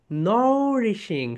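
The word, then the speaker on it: nourishing: সো এখন থেকে যেখানে যেখানে হেলথি থাকবে, হেলথিটাকে ক্রস করে দাও সবাই, হেলথি ক্রস ইন করো, নরিশিং, সবাই বলো মাই ডিয়ার সোলজার্স, উচ্চারণটা দেখো, নও রিশিং, নরিশিং, নরিশিং, নরিশিং, নরিশিং মানে কি বলতো, হেলথি।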